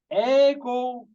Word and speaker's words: ego: one e not ID second one is ego ago in German pronunciation because you know for in from the German so Eid ego and